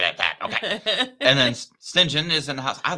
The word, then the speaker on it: St. John: It's how they pronounce it. It's St. John Yeah. Okay. is Ah. how you say it, but they pronounce it St. John for some reason.